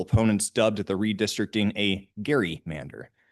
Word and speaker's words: Gerrymander: dubbed the redistricting a Gary mander. So I think we may have been mispronouncing that for quite some time now.